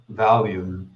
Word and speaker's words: Valheim: It's pronounced Valium. I mean, that's not far off. You don't do anything for so long. Valheim.